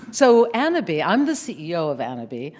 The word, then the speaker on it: Annabis: bit about anna b spelled like cannabis without the c but we pronounce it the fancy french way of course you're the coco chanel of cannabis right so annabee i'm the ceo of